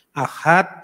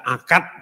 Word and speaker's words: Ahad: dari bahasa Arab menit karena orang Jawa tidak bisa ngomong huruf H huruf H lumpia baca Kang Ahad dibaca akad menentukan pertamanya pronunciation yang